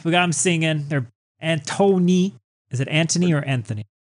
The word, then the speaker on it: Anthony: got them singing they're Antony is it Anthony or Anthony it's Anthony and I hate it Daniel loves spell Anthony yeah but it's they say Anon silent h Anthony he's all like